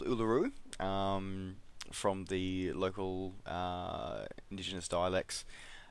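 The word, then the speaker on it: Uluru: history about that so um yeah the the pronounce it is called uh LaRue from the local indigenous dialects known to us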